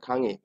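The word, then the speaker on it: 강의: আমরা যখন উচ্চারণ করব তখন কি উচ্চারণ হচ্ছে, খাং উই বা খাঙে। এখানে আমরা কি উচ্চারণ করব, যেহেতু এই প্রথম রুলস এর মতোই আমাদের এই রুলসটা হচ্ছে একটা বর্ণের পরে কি আছে, উই আছে, এটাও আমরা কি উচ্চারণ করব, ইর মতো উচ্চারণ করব। তাহলে কি হবে, খাঙি, খাঙি।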